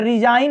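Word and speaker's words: resign: रिजाइन है, यहाँ भी यन के पहले जी आया है तो जी क्या रहेगा, साइलेंट।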